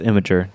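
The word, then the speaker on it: Imgur: And it's pronounced Imager.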